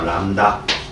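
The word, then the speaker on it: lambda: 얘기예요 요것이 파장이라면 놈이야 읽을 때 람라 읽으세요 람다 설립자 뭐 한자로 읽지 말고 알겠어요 람라 읽습니다 뭐라 린다고 람다 어 람다 B 묵음이다 알았냐 틀렸다 얘기야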